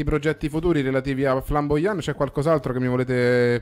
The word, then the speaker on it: Flambojan: Giustamente, immaginavo, insomma, Flamboyant, quindi direi che non potete sbagliare, Flamboyant è scritto così come lo pronunciamo, quindi con una I lunga o J invece che la I comunque, Flamboyant, quindi noi